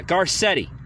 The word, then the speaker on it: Garcetti: Yeah, Garcetti, right?